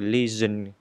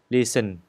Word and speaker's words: lesion: Ở đây các bạn chú ý phát âm cái từ lesion, giờ chứ không phải là sờ. Nếu như các bạn phát âm là lesion thì nó không có đúng. Phải nói là lesion, lesions. Chúng ta phải phải rung cái giai thanh của mình đó.